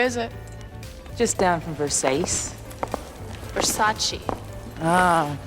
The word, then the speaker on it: Versace: It's a Versace. It's Versace. What? Versace. It's pronounced Versace.